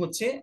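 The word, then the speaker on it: ふ: আচ্ছা, ফু এর কিন্তু আরেকটি উচ্চারণ আছে, যেটাকে বলা হয় হু বলা হয়। সেটাকে কি বলা হয় হু। হু, হু বা ফু।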